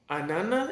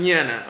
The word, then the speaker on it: Anana: I'm here with AI Anana is how you pronounce it like banana right an Anana okay Anana Anana